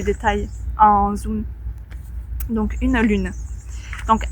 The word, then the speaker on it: lune: Ici, Lune, c'est quand même comment dire, un son compliqué à prononcer pour les apprenants étrangers. U, le son U est très rare dans d'autres langues. U, lune, lune, une lune.